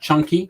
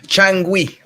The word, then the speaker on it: Changüí: rosenthal we're talking about junkie um am i pronouncing that chunky changui chang sorry yeah it's another one guantanamo and